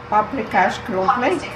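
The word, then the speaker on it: paprikás krumpli: Paprikash crumpli.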